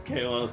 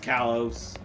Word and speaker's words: Kalos: I've gotten so used to saying it as Kalos that now I just realized today it's pronounced Kalos. So, yeah. Can't believe I've been pronouncing that wrong my whole life.